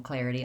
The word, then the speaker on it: clarity: The word clarity has 3 syllables, and the stress is on the first syllable, clair. So that syllable is long, and the ity syllables at the end are short and unstressed.